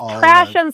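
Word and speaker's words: Trashion: So it's Trashin spelled like fashion.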